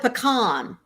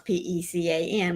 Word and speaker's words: pecan: We call it pecan. She asked me, how do you pronounce P-E-C-A-N? We say pecan. I know a lot of people say pecan, but we say pecan here in Texas.